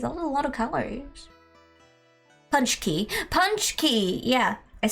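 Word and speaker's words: pączki: I've forgotten how it's pronounced. Patchy? Patchki? Patchki? Hey Ninnas, how's it going? Though the bakery here gets to be 1,000 calories. That's a lot of calories. Punch key.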